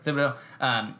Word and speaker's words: Thibodeau: Thibodeau? Yeah. Thibodeau.